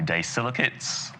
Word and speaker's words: disilicates: But, more and more we're moving away from, the traditional types of crowns and moving more to, the disilicates?